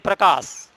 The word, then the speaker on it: प्रकाश: हम लिख देते हैं प्रकाश। उच्चारण पे ध्यान देना, ये पा बहुत जल्दी बोल रहा है और रा थोड़ा सा बोलने में समय ले रहा है, अर्थात प्र। डीपली ध्यान देना, पा आधा है और रा पूरा है।